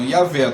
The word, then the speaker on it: Yahvé: em dia, essa literatura, os estudiosos estudam o diagrama YHWH, só que a pronúncia é a mesma, Yahvé, tá?